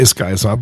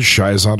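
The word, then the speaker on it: schizont: I say Skyzant, but I've heard it Shizant or Shizant. I've heard three different ways of saying it. I think they're all correct.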